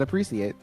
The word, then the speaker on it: appreciate: they the guy said appreciate it's a c it sounds like an ass interesting what the hell